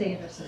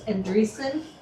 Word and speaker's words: Andresen: And that was, they didn't pronounce it Anderson. It's Andresen, Endre Andresen.